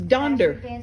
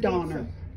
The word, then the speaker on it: Donder: Look, it's Donder. I thought it was Donner. And it's Donder? It's Donder is what that is.